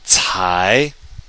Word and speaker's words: 才: 才, 才, not until, only then. And it's an adverb to indicate lateness of an action. 才, and remember that C sounds like a TS.